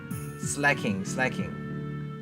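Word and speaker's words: Slaking: But if your opponent knocks out a Lycanroc, you're not doing more damage with your slacking. I keep pronouncing it wrong.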